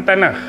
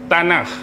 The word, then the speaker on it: Tanakh: Pernah dengar perkataan tanah? Pernah dengar tak? Pernah. Ejaan dia T A N A K H T A N A K H tanah.